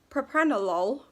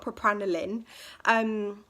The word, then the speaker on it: propranolol: wrong it's so funny so propranolol not pro panel in it's basically a something